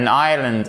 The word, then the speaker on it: island: An island, an isle. Ok? Vous ne prononcez pas le S.